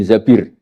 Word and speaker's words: Zabir: Kemudian saya nikah sama Abdurrahman bin Zabir. Di hadis ini bukan bacanya bukan Zubair, tapi Zabir.